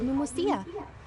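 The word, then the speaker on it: Pneumousia: Besides indemnitium, we have another type of energy called pneumosia. Oh, so that's how it's pronounced.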